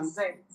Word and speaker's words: vous êtes: Vous êtes. Vous êtes. So the S is Z.